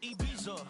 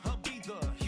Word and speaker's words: Ibiza: Yeah, it's pronounced Ibiza, actually. What's the difference, man? Ibiza, Ibiza, you won't see me in neither.